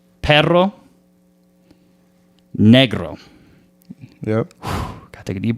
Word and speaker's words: Perro Negro: So Bad Bunny has a song called Perro Negro. Yep. Gotta take a deep breath. I said it right. Thank God. Okay. Perro Negro.